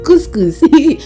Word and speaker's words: couscous: you know this is actually how I was pronouncing the name Ed Joy was like huh it is couscous yeah so let's make couscous let's go to